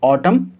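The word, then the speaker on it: autumn: तो यहाँ भी लेटर एन और लेटर एन साइलेंट होगा। तो हम इसको कैसे पढ़ेंगे? ऑटम, column, dam.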